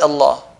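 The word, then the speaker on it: الله: and no bill I like pull Lala we pronouncing the word Allah heavy who a long why because the is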